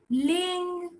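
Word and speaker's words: 零: 0 is ling. Take it up. Ling. That's how you pronounce 0.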